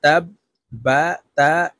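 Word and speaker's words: تبت: নিজ হরকতের উচ্চারণ হবে তো এখানে তাশদিওয়ালা হরফটি হলো বা তো এই তা'র সাথে একবার উচ্চারণ হবে আবার বাটি নিজের আরেকটি উচ্চারণ হবে তা বা জবর তাব বা তা জবর বাত এই বাটি জজমওয়ালা তাকে ধরবে তাব্বাত ইয়া জবর ইয়া দাল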